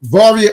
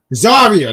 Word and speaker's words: Zaria: Varia, not Varia. No, no. The one with the V. Varia? Zaria.